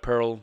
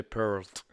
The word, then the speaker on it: Peart: Instead of Pearl, you say Peart.